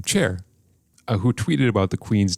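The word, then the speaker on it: Cher: I know how to pronounce her name, Char, who tweeted about the Queen's death, offered her condolences, but had a little gaffe.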